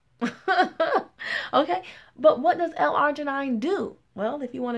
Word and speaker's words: L-arginine: know what that is then walking around pronouncing it L Argentina okay but what does l-arginine do well if you